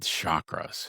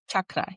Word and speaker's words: chakra: How does this work with chakras? Is that something that you work with as well? Yeah, absolutely. So, it's pronounced chakra. So, I know that chakra.